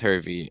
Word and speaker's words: Hervey: time, like, oh, William Harvey, and I'm like, how is my name Harvey? Like it's spelled Hervey, not Harvey.